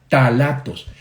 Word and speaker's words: ftalatos: Y quiero ahora hablarles de otro grupo de sustancias que se llaman los ftalatos. Se escribe con P-H-T, P-H-T-A, talatos.